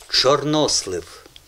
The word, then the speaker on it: чорнослив: От українською мовою, ну, майже ви все правильно сказали. Чорнослив. Правильний наголос в цьому слові. Чорнослив і чорнозем.